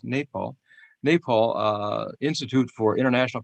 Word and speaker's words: Nepal: I' I've been calling it Nepal all these years but I'm told it's pronounced Nepal.